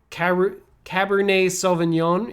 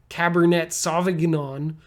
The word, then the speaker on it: Cabernet Sauvignon: French you can't say Cabernet Sauvignon you have to say Cabernet Sauvignon and it's a little bit like French or Merlot if you